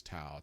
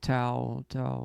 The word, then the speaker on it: Tao: And one of the words that came out that I kept writing was Tao, Tao, Tao, Tao, Tao, like T-A-O, T-A-O, yeah. T-A-O. Is it pronounced like Tao with a D?